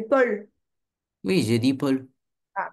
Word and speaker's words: Paul: C'est pas poule, c'est Paul.